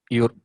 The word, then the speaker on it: Euro: So anything like which starts with an digraphs E and U together, it does the pronunciation goes like oi. Yeah, it's euro and Europa.